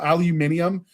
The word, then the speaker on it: aluminium: or excuse me to pronounce it British style. So, aluminium instead of aluminum just because it would sound cooler.